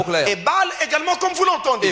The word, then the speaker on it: Ebal: l'autre montagne le mot Ebal ça s'écrit comme vous l'entendez Garizim avec G A R I Z I M Garizim comme vous l'entendez Ebal également comme vous l'entendez